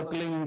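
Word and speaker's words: क्लीं: में फैले उसका होता एक शब्द क्लिंग शब्द क आधा ल में मिला हुआ बड़ी की मात्रा और बिंदी उसका उच्चारण होगा क्लिंग ग ग की धनि निकलेगी पीछे आप अंग बोलो य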